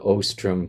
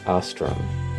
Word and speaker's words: Ostrom: I noticed that the narrator of the telecast piece pronounced your name as Ostrom as opposed to Ostrom, which is our way of pronouncing the name.